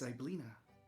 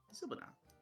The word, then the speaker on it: Zybilna: The name's Zyblina. Or Zybilna. Hold on. Zybilna. Yeah, Zybilna. Kieran's also kneeled down so he can speak with Kettle Steam eye to eye. Zybilna, I believe is how that's pronounced.